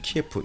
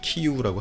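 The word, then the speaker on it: Kyiv: tf 우크라이나의 수도 있는 키에프 요즘엔 4 키우라고 하는데 원어 발음 으로 자키 후에는 자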